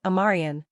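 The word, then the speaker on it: Omarion: Deion Sanders corrected several reporters and provided the correct pronunciation of Miller's name, adding, "Everybody, this is my man, Amarian.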